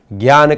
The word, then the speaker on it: ज्ञान: हमें बार बार ये बात भी ध्यान में रखनी है कि ज्ञान नहीं बोलना है, हमें इसका उच्चारण क्या करना है, ज्ञान करना है।